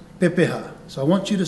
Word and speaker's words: Pepeha: going to introduce to you what we call Pepa so I want you to say with me P we break it into syllables P ha Pepa so a Pepa is